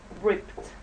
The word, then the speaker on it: ripped: ripped at the scenes ripped as you see it's turned the the sound the pronunciation is like with a t so it's this pronunciation ripped and the left one